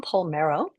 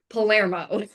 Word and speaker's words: Palermo: Did I get that right? Palermo. Palermo. Did I say it wrong? I asked beforehand, and of course I messed it up, but that's okay. Yeah, it's Palermo of Blue Dog Training.